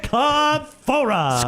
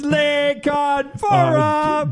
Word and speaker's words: LaConfora: How do you say his name? LaConfora. LaConfora. Score! It's LaConfora. Jason LaConfora.